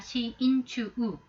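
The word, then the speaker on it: しんちゅう: 심중, 고코로노 나카, 고코로노 우치 의미인 경우에 신추라고 읽으셔야 돼요. 신추. 이거 그냥 신주를 읽게 되면 동반 자사라는 거죠. 한자는 똑같습니다만 고코로에다가 나카, 우치입니다만 고코로노 우치, 사람의 마음속이라면 신추입니다. 시인추우. 그 다음 동반 자살하는 것은 신주우.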